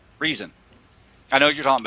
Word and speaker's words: Riesen: Is that Ryzen or Reason? Reason.